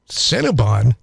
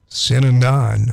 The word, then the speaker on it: Synanon: Cinnabon? Synanon. Synanon. Yeah. Oh. So this QAnon, this is not the first Anon. Is that connected to the Southern Baptists? Actually, Synanon was a religious cult.